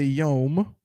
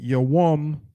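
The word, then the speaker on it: יום: correct let's see right and not yom notice the brother did not say yom that would have been incorrect right he said you're womb because that is the proper word right so the hebrew word for day is your womb and how would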